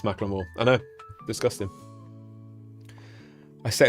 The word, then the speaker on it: Macklemore: And I saw that some people already said Macklemore, which I found out recently is how you pronounce it, and it's not Macklemore, it's Macklemore.